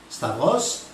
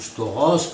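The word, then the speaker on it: σταυρός: os mais en grec sachez que la bonne prononciation c'est stable Staros le mot Staros est-il une croix en grec ou pas et bien oui le mot spa Bros ou storose comme il le prononce signifie bien roi aujourd'hui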